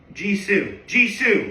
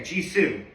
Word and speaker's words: Jisoo: And is there a way to pronounce the name? Jisoo. Okay, Jisoo.